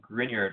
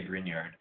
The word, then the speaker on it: Grignard: I don't know how to express that, but we'll just say Grignard for now. It's not Grignard. That's the only thing is, you know, don't pronounce the G.